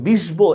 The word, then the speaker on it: বিশ্ব: Same দেখেন বফলা দিয়া, মনে করেন আমি লিখলাম বিশ্ব, দেখেন আমরা কিন্তু শটা 2বার উচ্চারণ, বিশ্ব এভাবে বলি না আমরা, বিশ্ব শটাই আমি 2বার উচ্চারণ করতেছি।